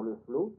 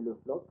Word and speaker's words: Le Floch: Il y avait un très bon résumé du modernisme par le père Le Flot, c'était Le Floch, en deux mots, F-L-O-C-H, c'est un nom breton, en deux syllabes.